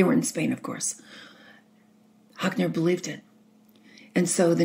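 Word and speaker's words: Hotchner: And he would say it like Hockner, like he was hawking.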